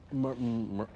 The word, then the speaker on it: Myrtle: Um Myrtle, Myrtle. Uh, it's pronounced like turtle or uh girdle. No, Myrtle.